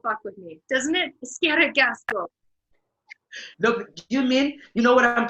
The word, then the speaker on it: Eskerrik asko: Eskerrik asko.